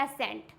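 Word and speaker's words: ascent: अगर सी एस के just बाद में आता है तो हमारा सी क्या होगा? साइलेंट। For example एसेंट। क्या होता है ये? एसेंट। यहाँ पे क्या है? सी एस के जस्ट बाद में आया है, इट मीन्स ये हो जाएगा एसेंट।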